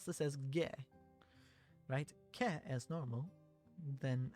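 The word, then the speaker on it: げ: You pronounce this as ge.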